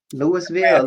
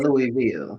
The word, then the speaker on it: Louisville: Uh Louisville Louisville versus um Lewisville. Louisville. Louisville. Louisville. I'm sorry I was pronouncing every syllable.